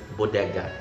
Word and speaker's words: bodega: Bodega has a Spanish origin, and in my country, the Philippines, specifically Cebu, or in areas speaking the Cebuano Visayan language, we pronounce it bodega.